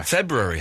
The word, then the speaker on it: February: Yeah, February has I I do pronounce the extra R in February.